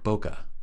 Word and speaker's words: bokeh: Anyway, I like to say bokeh. Bokeh. That's the American way, guys.